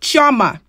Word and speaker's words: Chioma: people try to correct me on how to pronounce my name as if I wasn't born with it. Chioma.